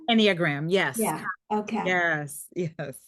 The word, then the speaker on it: Enneagram: Enneagram? Enneagram.